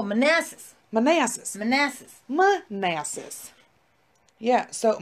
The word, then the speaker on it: Manassas: Is that how you say it? Manassa? I don't know. Where is it? Are you fucking kidding me? We're barely at the start, Jean. Oh, Manassas.